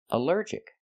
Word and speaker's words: allergic: Allergic is three syllables. Allergic. The stress is on the second syllable.